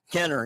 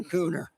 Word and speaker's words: Kenner: I did not want to point that out, Mr. Kenner. Yes, not Cooner.